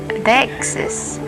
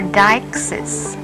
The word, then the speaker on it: deixis: The noun deixis is pronounced as deixis or deixis, and has its origins from the Greek word deiknonai, which means to show or to point.